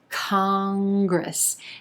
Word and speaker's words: congress: number eight congress congress two syllables here emphasis on the first syllable and the ah as an olive vowel sound congress then that in is going to be an sound kong then we go into a g r consonant cluster at the beginning of the second syllable gris gris congress congress congress has rejected